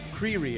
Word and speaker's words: Creery: Creery. Am I pronouncing that you right? You are. It's like creepy, but with an R.